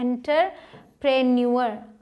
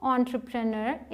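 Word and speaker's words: entrepreneur: हैं इसको इसे बहुत सारे लोग बोलते हैं इंटर प्राण युवर ठीक है इंटरफेयर लेकिन इसकी सही प्रनंसीएशन क्या है मतलब व्यवसाय डी ट्रू एंटरप्रेन्योर इसे एन दूर नोट एन ड्रीमर सच्चा एंटरप्रेन्योर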